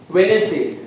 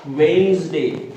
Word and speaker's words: Wednesday: Here there are some words where D is silent. Like we often pronounce Wednesday. Somebody pronounce it Wednesday, but the actual pronunciation of this word is Wednesday.